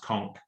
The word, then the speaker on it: conch: It's always pronounced conch. Always. I'm speaking as a Caribbean national man.